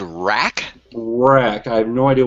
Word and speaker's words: Wrack: you you said the name so it's called rack rack i have no idea what it stands for okay now spell it for me real quick it's just like